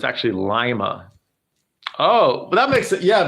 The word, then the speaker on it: Lima: soccer in the bathtub but for Lima everyone pronounces it Lima but it's actually Lima oh that makes it yeah because uh uh